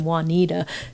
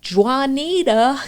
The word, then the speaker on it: Juanita: have a friend named Juanita, they'll give them crap sometimes when they're calling her, and they'll be like, Juanita, Juanita. because we usually pronounce the J, but it's a Y sound in Spanish.